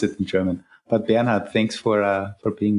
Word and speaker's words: Bernhard: know how to pronounce it in German, but Bernhard, thanks for uh for being with us. Thanks for having me. I'm so glad to be here. Well, my name is Benard. That's the correct way to pronounce it.